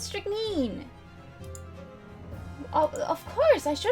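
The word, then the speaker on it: strychnine: of course of course it's pronounced strict mean oh of course i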